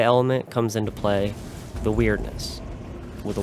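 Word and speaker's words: Wyrdness: The weirdness with a Y. I know it's kind of a goofy name when it's pronounced like weird, like odd, but the concept is fine enough.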